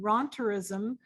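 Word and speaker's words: rentierism: just wanted to share with you the word ronterism which is on the screen in her powerpoint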